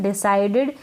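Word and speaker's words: decided: यहाँ पर आई को आई पढ़ा जा रहा है, डिसाइडेड। और इस ई को छोटी ई के रूप में पढ़ा जा रहा है, डिसाइडेड। और डीईडी डिड, डिसाइडेड। और सी का स बन रहा है, यहाँ पर सी को क नहीं पढ़ रहे हैं।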